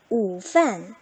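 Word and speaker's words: 午饭: 午饭 이렇게 소리를 낼 수 있겠죠.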